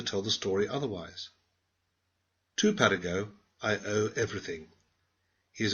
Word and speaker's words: Paragot: It is the story of Paragot, the beloved vagabond. Please pronounce his name French fashion.